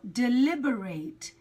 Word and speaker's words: deliberate: a different pronunciation okay so you've got deliberate deliberately that's adjective and adverb no here I'm talking about the verb and the pronunciation is different it's deliberate deliberate so note the syllable stresses deliberate deliberate deliberate so the pronoun the